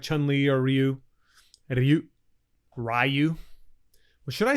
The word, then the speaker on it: Ryu: I know we fought about it when we were kids, whether it was Ryu or Ryu. And it's neither of those things. So, total fail. Worst pronunciation ever. It's Ryu. Ryu.